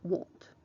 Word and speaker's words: won't: négation en mai nantes la forme contracté se prononcent monte et s'écrit w o n apostrophe t pour faire une question c'est